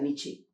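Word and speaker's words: Nietzsche: ये एक बहुत महान जर्मन दार्शनिक है जिसका नाम है, हिंदी में लोग उसको नीत्शे कहते हैं, लेकिन उसको प्रोनाउंसिएट किया जाता है नीचे।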